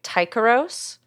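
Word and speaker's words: Tycheros: I if I'm pronouncing this wrong, sorry. Tikaros.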